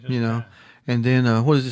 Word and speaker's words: chi: But anyway, as Carl said, the letter X is actually pronounced CHI or KYE, and it rhymes with I, so it's Chi. Kai. It's just Kai.